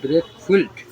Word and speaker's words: brake fluid: আমরা বাংলা বলি ব্রেক well. যাই হোক এটা একচুি শুদ্ধ উচ্চারণ হবে ব্রেক ফুইলড এটা ডট থ্রি এই